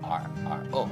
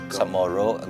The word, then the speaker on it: Chamorro: As we know, Samoru is usually spelled or before it was traditionally spelled with a CHAMORRO, right?